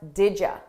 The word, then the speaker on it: did you: Did you, we pronounce this as didja, didja, didja. So I combine those sounds together and I take you and I change it to ya, didja, didja.